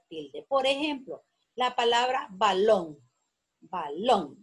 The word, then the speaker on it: balón: Por ejemplo, la palabra balón. Balón. Lleva la sílaba tónica en long.